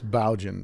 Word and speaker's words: Boughen: Yeah, that's Boughen. Is how it's pronounced.